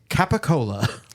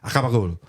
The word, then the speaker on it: capicola: The real word is capicola. Yeah. Capicola. And that is how Italians pronounce capicola is gabagool. Gabagool. It's just gabagool. so like pushed and mushed together that it comes out like gabagool.